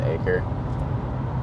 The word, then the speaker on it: Acre: a lesson with Brandon acre uh he told me how to say his name he said like a plot of land so I've been working